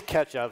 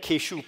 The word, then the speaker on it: Ketchup: His name is Ketchup. No, which it'll be. Which means really it's going to be like Keshoop or something like that. Well, Oh no, that's pronounced ketchup.